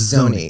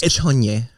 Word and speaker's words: Szony: It's Szony. The S is silent. Szony. Szony. Or if you're Hungarian, it's Czonye.